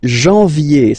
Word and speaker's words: janvier: But anyway, janvier, so that's the way to pronounce it. Janvier, A-N, en, okay? And then, yé, yé, yé, janvier.